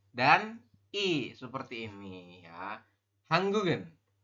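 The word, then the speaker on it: 한국은: Jadi nanti dibacanya adalah seperti ini. Hangguk terus ditambah dengan en. Atau ya Yorobun. Atau hangguk kemudian tambah dengan i seperti ini. Hanggugen ya, hanggugen seperti ini dibaca. Nanti ini hanggugi seperti itu. Perubahannya jika ditambah dengan partikel subjek maka dibacanya itu jadi hanggugen. Ya, kemudian yang ini hanggugi seperti itu. Bukan hangguk bukan hangguk en, tapi hanggugen seperti itu. Jadi gioknya ini naik ke sini nanti dibacanya.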